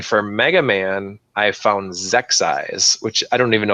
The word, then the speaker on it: Xexyz: And then for Mega Man, I found Zexyz, which I don't even know if that's how you pronounce it, but it's spelled XEXYZ.